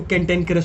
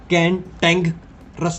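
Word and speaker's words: cantankerous: कैंटेनकरस, कैंटेनकरस, ठीक है, इसको कैंटेनकरस प्रोनाउंस करते हैं, कैंटेनकरस, ठीक है, कैंटेंग रस नहीं पढ़ते, कैंटेनकरस, कैंटेन। सबसे पहले आप CANTAN पढ़ेंगे, देन उसके बाद KERROS यू को पढ़ेंगे, ठीक है।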